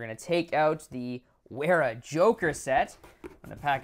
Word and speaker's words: Wera: off strong the where i think it's weara i have never looked it up i'm pretty sure it's pronounced wera the weara joker so